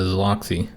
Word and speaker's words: Zoloxi: So that is how you pronounce it, the Zoloxi.